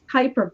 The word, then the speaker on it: Kuiper: Did I pronounce? Hyper belt. Kuiper belt.